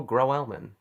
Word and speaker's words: Grauwelman: I'm being joined by my good friend grow elman which I say you do you pronounce it right yeah we actually did not